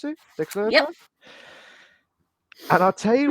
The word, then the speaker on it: Dexerto: Is that how you pronounce it? Dexerto?